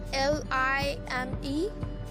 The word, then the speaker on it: lime: we will pronounce this l i m e very good this is lime because we have vowel e at the end so this is line